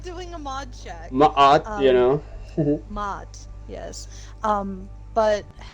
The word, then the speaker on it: Maat: How do you spell that? Justice. M-A''AT.